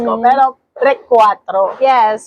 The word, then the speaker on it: Recuatro: sa hindi ko sure kung tama ung pagk Kaka-pronounce ko pero Recwatro. Yes, Recwatro.